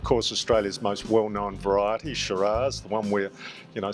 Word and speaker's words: Shiraz: And uh the French word has sort of metamorphosed to s y r ah and in Australia it's metaphors morphosed towards s h i r a z.